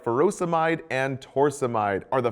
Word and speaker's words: furosemide: and potassium sparing diuretics potassium wasting ends in I'd like furosemide or hydrochlorothiazide both rhyme with dried but again be careful